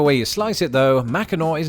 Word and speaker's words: Mackinac: a silent sea indeed the correct pronunciation of Mackinac is better reflected in the present-day spelling of nearby Mackinaw City which due to the